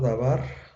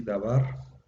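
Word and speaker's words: דָּבָר: Normalmente, si como aquí no tiene acento, dabar, normalmente la última sílaba es la que se acentúa.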